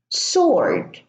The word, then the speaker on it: sword: We also have the words answer, sword, and to. Now answer is in the middle, the W is silent. Sword, the W is silent here as well.